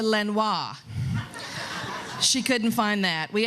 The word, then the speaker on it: Lenoir: didn't go over so i even used the the french pronunciation that i know you all use around here siri how do you get to lenoir she couldn't find that